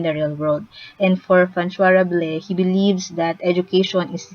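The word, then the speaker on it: François Rabelais: That's how you pronounce the name. It's a French name. So I actually searched YouTube on how to correctly pronounce the name, and it says Francois Rabelais.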